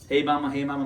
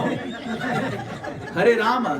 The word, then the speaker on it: Hare Rama: Hey mama, mama, mama, hey, hey. No. Hare Rama, Hare Rama.